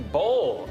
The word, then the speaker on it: boll: The picker takes only the boll of the cotton plant. It's spelled with an O, but it's basically a ball of cotton.